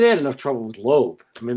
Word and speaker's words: Loeb: I mean they couldn't understand that lobb was not lob was was not low eb. It was not, it didn't have two syllables. I would just go, "It's lo like earlobe." And I just would wait for someone to go, "So, your name is earlobe?" And I would go, "No, silent."